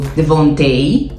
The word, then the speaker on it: Devonta: Hoje vamos começar pelo The Vontei. Hoje sim consegui a pronúncia certa porque ouvi a Brittany a falar e a Brittany.